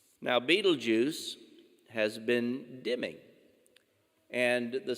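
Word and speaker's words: Betelgeuse: so regarding the star beetlejuice and yes that's how it's pronounced just like the character in the tim burton movie now beetlejuice has been dimming and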